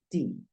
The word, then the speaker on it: the: está el artículo que lo puedes pronunciar da o d pero en este caso Mira la primera palabra que sigue es una vocal por lo tanto si eso sucede tú debes pronunciar di thear the Apple the Orange d de resto si puedes decir de de Cat O puedes decir da como te lo mencioné anteriormente